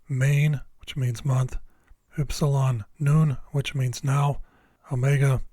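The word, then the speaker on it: νῦν: what someone Ada main which means month ipsilon noon which means now Omega F which means light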